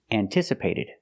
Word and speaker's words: anticipated: we use the sound an an not un not anticipated like cup and up but an anticipated again highly anticipated and